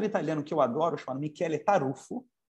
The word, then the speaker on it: Michele: que eu adoro chamado Mikele taruffo Cuidado que o nome dele não é Michele o nome dele é Miguel em italiano Michele taruffo se escreve Michele mas é Michele em que ele num livro